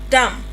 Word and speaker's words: dumb: We have bum. Comb. Lamb. Thumb. Dumb. And climb.